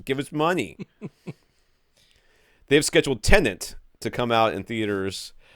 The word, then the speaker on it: Tenet: Yeah, it is not Tenant. It is Tenet.